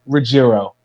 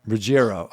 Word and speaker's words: Ruggiero: floor laughing it's the the correct way to pronounce it is regiro regiro okay so we weren't